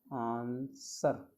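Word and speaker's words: answer: देखिए आंसर, देखिए क्या बोलता हूँ मैं इसे, देखिए हिंदी में इसको हिंदी क्या कहते हैं, आंसर।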